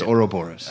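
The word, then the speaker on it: Ouroboros: Google they Boris it's not even close it's Oro Boris uh yeah yeah I know uh yeah I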